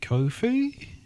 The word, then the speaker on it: Ko-fi: Um we uh have a Kofhei. Yes, we do. Uh I'll leave that to you to describe because I know nothing about it. That's uh it's spelled ko fi. So it's coffee.comweeklyongodcast.